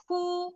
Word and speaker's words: who: Who, W-nya nggak bunyi nih. Silent.